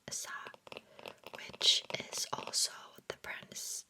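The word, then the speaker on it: 사: The Korean word for four is pronounced sa which is also the pronunciation for the ha character for death.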